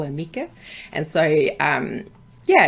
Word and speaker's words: Mieke: bit about yourself so yeah my name is Mika it's a very strange name it's mispronounced and misspelled all the time um it's